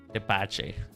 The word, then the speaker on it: tepache: Is that how you pronounce it? I forget. I forget. Hold on. Tepache.